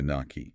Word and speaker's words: gnocchi: The waiter looked physically pained when you tried to order the gnocchi. Okay, look, I panicked. I pronounced the G and the K.